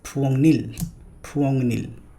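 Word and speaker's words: 부엌일: Next word, it's not puokil or puokil, it's puongnil.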